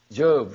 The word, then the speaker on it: Job: smitten with boils who Jo who said job job said it right job right there's a condition